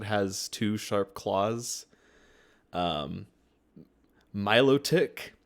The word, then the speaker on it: Milotic: Um, Milotic, which is the correct pronunciation, but I will still say Milotic, Melodic.